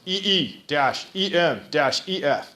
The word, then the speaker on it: EMF: EMF, as you'll see on the next slide, it says pronounce EE-EM-EF. EMF.